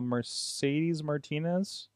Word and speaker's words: Mercedes Martinez: And why did I feel like I'm saying her name wrong? Mercedes Martinez.